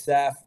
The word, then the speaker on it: Seph: that I'll be like it's Seth I'm Seth it's like Joseph without the Joe and iMed like that's